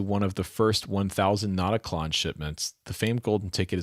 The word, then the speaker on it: Notaklön: Please tell Rhett to remove the R sound from how he's pronouncing Notaklön, and he's there. The Swedes will never forgive me otherwise. Well, okay, so but you said that the umlaut is like an ER sound, like as in her, like the in her.